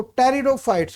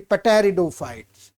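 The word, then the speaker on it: pteridophytes: इनमें P silent होता है, राइट। आप लोग इसको टेरिडोफाइट्स बोलेंगे, ना कि पेटेरिडोफाइट्स।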